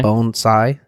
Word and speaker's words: bonsai: cool bonsai I think is this the way it's properly pronounced bones sigh both sigh sigh yeah like yeah like a bone sigh and it's a it's